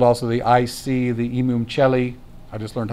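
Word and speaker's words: Imum Coeli: number 4 called also the I see the imam celli i just learned how to pronounce that properly also the nadir okay so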